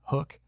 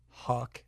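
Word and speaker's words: HUK: Because that way people would know how to pronounce it, because I called it Huck when I met him the first time, and he's like, it's actually Hook.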